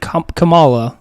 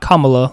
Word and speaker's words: Kamala: okay they pronounce it kamala like the wrestler and not kamala like the vice president i said kamala i